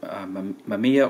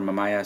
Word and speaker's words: Mamiya: So in this episode, I'll show you around the Mamiya or Mamaya. Some people pronounce it differently, the 645.